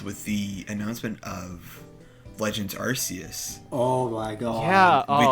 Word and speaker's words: Arceus: No, I think its official pronunciation is Arceus. Really? Oh. Yeah, in one of their 3D ones for the 3DS, their official pronunciation of it is Arceus.